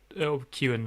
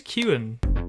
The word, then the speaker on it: Keoghan: with your point about Barry Keoghan Kewan, I think is how you say it, not actually undergoing any Kyogen. development. Like there is no. I think it's Kewan.